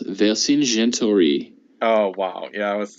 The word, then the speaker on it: Vercingetorix: So I think it's Vercingetorix. Oh wow, yeah, I was gonna say it like English-wise. Vercingetorix. So that's 5 syllables.